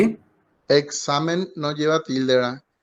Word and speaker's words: examen: hablar en breve entonces el examen es una palabra llana porque se carga la voz en la penúltima sílaba y no lleva acento